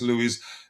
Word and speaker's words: Luiz: I think it's pronounced Douglas Lewis.